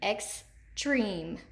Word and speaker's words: extreme: it extreme extreme extreme where do we hear that accented long e extreme extreme it's in the second syllable extreme and we've got